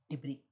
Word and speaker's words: debris: Now this is related to space debris. Have you heard about space debris? What is debris? See we pronounce it as debris not debris.